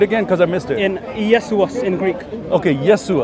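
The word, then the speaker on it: Ἰησοῦς: what does it pronounce his else i just pronounced it and you do it again because i missed it yes to us in greek okay yes to us yes okay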